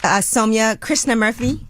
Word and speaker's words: Somya Krishnamurthy: I'm here with my guest host, Somya Krishnamurthy. I said that right? You said it right.